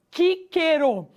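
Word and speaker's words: Cicero: Tanto que a palavra Cícero deveria ser pronunciado na língua latina como Quíquero, já que o som do C sempre era o som de K, já que a letra C sempre possuía o som de K.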